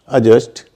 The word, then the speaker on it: adjust: मत बोलिए बाकी आप पूरा बोलिए एडजेक्टिव अजन अजस्ट तो ये कुछ शब्द है डीजे वाले जिस